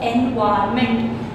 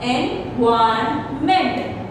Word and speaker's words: environment: Here the N is silent, so you will be missing it most of the time.